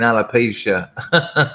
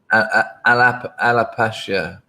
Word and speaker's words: Appalachia: the woods up in alopecia i know it ain't alopecia it's just it's just my hilarious jokes i can never remember how to say it appalachia appalachia there you go we got there um